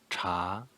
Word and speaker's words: 茶: meat the next one cha cha second tone rising tone cha means tea to